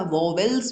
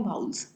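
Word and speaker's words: vowels: कभी कभी आप लोग जो हो उसे ए ई आई ओ यू वाउल्स भी या वोवेल्स भी कह देते हो, एक्चुअल में इसकी प्रोनाउंसिएशन है वाउल्स।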